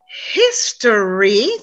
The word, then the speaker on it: history: students make this mistake it's history three syllables story two syllables and store one syllable you see that difference so cinderella was a great story we need to pronounce two syllables not one not three okay i know we're